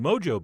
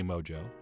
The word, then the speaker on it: Mojo: It is Mojo. So that's how I will be pronouncing it, but only for this video. In real life, I'm going to continue to say Mojo, because it really does sound so much cooler.